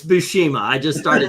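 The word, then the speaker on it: Buscema: You mean Bushima? Spell it. B U S C M A Busma. That sounds wrong. It is. It's Bushima.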